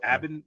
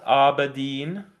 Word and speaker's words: Aberdeen: Do they screw up the pronunciation of Aberdeen? How could they do that? Edinburgh, it always is. Aberdeen. Abin. Yeah, I guess. No, it can't be Abin. Aberdeen. Aberdeen. Yeah, I guess so.